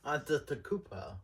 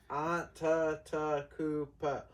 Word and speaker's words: Antetokounmpo: Antetokounmpo. Yeah. Antetokounmpo. 5 syllables.